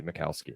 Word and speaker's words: Michalski: How do we pronounce? Are we going to go Mikowski? Mikowski. Mikowski. Yes, that's the way I was going. Michalski. But yeah, it's got to be Mikowski.